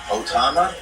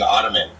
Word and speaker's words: Ottoman: Otama Yeah. is the wrong way of pronouncing Ottoman.